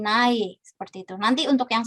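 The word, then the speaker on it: 나의: Contohnya kalau saya yang na gitu ya, na milik saya gitu, jadi na dia dibacanya bukan na tapi jadi nae, seperti itu.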